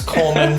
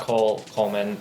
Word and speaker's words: Colman: It's Colman. There's no E in Colman, okay? It's not Coleman.